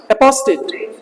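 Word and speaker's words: apostate: एक इंसान जिसने अपना विश्वास बदल दिया है उसको कहेंगे आपका अपोस्टेट। अपोस्टेट ये एक मात्रा रहेगी, अपोस्टेट, ये ज्यादा हो रखा है। अपोस्टेट ये वाला होता है रियल प्रोनाउंसिएशन, अपोस्टेट, ठीक है ना।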